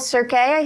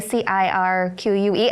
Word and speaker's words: Cirque: One of them was the Paranormal Cirque. Is that how you pronounce it? Instead of circus, it's Cirque, C-I-R-Q-U-E.